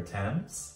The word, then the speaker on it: Thames: There's also the iconic London Eye, a giant Ferris wheel on the south bank of the River Thames. Side note, the River Thames is spelled T-H-A-M-E-S, but pronounced Thames.